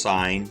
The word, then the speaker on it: sine: the sign it's pronounced sign that's the word that's the abbreviation but you still say sign not sin so the sign of